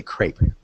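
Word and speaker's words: crêpe: In English, and I believe in French, we'd say crepe. Crepe. Just one syllable.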